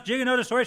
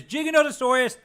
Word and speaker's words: Giganotosaurus: like how you mispronounce Giganotosaurus shut up Stu it's Giganotosaurus any other way is wrong because any other way you you are inadvertently implying that gigantic is the way to say it's not how you say it